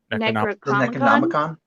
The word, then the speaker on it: Necronomicon: Necronomicon.